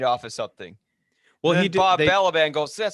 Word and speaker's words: Balaban: But yeah, Bob Balaban.